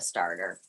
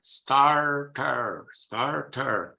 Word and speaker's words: starter: You would not pronounce any of those R's. You say starter. They say starter. You see, starter, 2 R's. We make it a silent R, and they pronounce it.